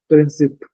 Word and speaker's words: principes: keep in mind that in English we write principles okay but in French it's princip okay so I keep